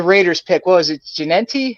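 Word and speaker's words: Jeanty: Genenti? How do you say his name? Ashton Genty, baby.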